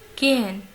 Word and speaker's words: gehen: Gehen, gehen, gehen. Ici, je lis le H. Il n'est pas muet. Il se prononce légèrement. Ça ne se voit même pas. C'est entre cette H de Hobby et nehmen.